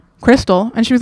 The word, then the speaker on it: Kristal: It is pronounced like the meth but spelled like a stripper so it's easy to remember.